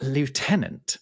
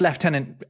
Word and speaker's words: lieutenant: wait now this is why did you say it like that exactly because how should I have said it leftenant right i certainly should yeah and you know it's leftenant everywhere except the United States right yeah well there's